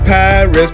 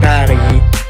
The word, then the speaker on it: Paris: My capital city is known as Paris, but inside of France they pronounce it Paris.